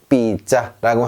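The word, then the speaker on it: pizza: 자, 이건 우리가 좋아하는 삐짜, 삐짜, 삐짜 이렇게 안 하고요. 삐짜라고 하는 이유는 자, 제따, 제따 두 번이기 때문에 삐짜 이렇게 하시면 되고요.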